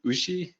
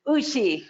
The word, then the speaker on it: Uschi: I think you pronounce it as Ushi. Ushi.